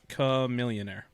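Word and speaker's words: Chamillionaire: All right, I thought it was Chameleonaire. You might be right, because like the more you say it, it's pronounced Chameleonaire.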